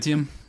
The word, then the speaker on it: Adamantium: This is taking place of how do you pronounce it? Adamantium, Adamantium.